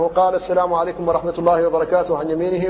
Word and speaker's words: السلام عليكم: قطعها قطعها قطعها فيقول السلام عليكم وبعضهم ايضا يبالغ في تشديد السين تشديدا كبيرا حتى تكون صفيرا مدويا وبالاخص بعض الائمه فيقول السلام عليكم بتشديد شديد وهذا غلط في النطق بالحرف فيقول الانسان السلام عليكم